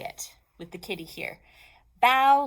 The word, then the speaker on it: bao: Bow like bow. When you bow to somebody and you go like that. That kind of bow. It says not like bow. So we know to say bow.